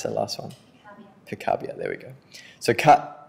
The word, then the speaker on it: Picabia: So Francis Picabia, Ava, how do you pronounce that last one? Picabia, there we go.